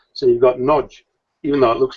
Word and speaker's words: Nagy: has its own nuance, and Hungarian has the A is always pronounced as a O sound, just like the A in an English word like what or swan. It's got an O sound, and GY is a J, which just like in